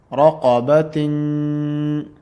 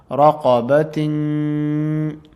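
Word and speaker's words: رَقَبَةٍ: Raqabatin. So we have the letter seen here after this tanween, so it will be pronounced as ikhfa because seen is one of the ikhfa letters. Raqabatin.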